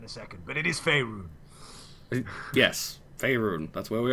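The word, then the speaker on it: Faerûn: Well, I'll tell you that in a second, but it is Faerun.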